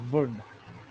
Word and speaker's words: Wundt: वुंड कहते हैं, हम क्या कहते हैं, वुंड, टी को प्रोनाउंस नहीं करते, वुंड कहते हैं बस।